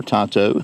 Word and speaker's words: tanto: features a 3.13 inch tanto style blade or tonto depending on your pronunciation a 0.12 inch thick